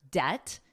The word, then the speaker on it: debt: Now notice the B is totally silent in the word debt. You don't hear it at all.